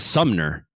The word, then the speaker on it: Sumner: It's Sumner. I've been saying it wrong.